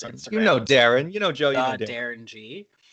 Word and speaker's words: Derron: And nobody ever understood it because my name is spelled Derron. So Yeah. O-N next to G. So it's the Darren G. But O-N-G together, people always thought it was Darong.